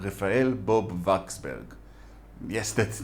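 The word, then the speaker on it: Bob-Waksberg: American Jew called Raphael Bob Waxberg. Yes, that's not how he would pronounce the name, but I find that W sound in these old Jewish European names harder to say than the V sound, which is how it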